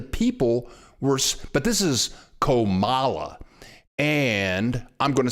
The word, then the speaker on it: Comala: Comala, yeah, that's how you say it.